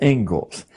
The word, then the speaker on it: Inglis: Looks like Inglis, but it's pronounced Ingalls.